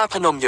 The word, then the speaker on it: พนม: ประยงค์ เป็น พนมยง นั้น ปรีดี อธิบาย ว่า ใน อดีต ชาว กรุงศรีอยุธยา ออก เสียง เรียก พระ นม ว่า พนม โดย ไม่ มี รอ เรือ ควบ กล้ำ และ เขียน โดย ไม่ ประวิสัญชนี อะ จึง กลาย เป็น พนม ส่วน บุคคล ก็ นิยม